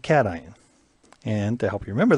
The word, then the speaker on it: cation: and that's called a cation i know looks like cash in but we pronounce it cation and to help you